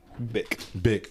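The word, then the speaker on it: Bich: Oh, actually, his name is pronounced Bick. Bick.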